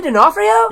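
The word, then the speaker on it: D'Onofrio: Kingpin is being played by Vincent I can't pronounce that last name Dion Frio or something like that vincey denafo yeah there you go yeah sick I didn't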